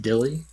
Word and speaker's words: DYLI: Again, it's DYLI, pronounced Dilly. It's an acronym.